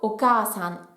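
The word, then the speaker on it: おかあさん: Pour la maman, elle se prononce haha quand on parle de ma maman, et sinon si je parle de la mère de quelqu'un, ce sera okasan.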